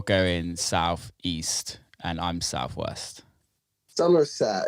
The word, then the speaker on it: Somerset: Somerset, is that how you say it? Somerset. Yeah. Yeah, that's it.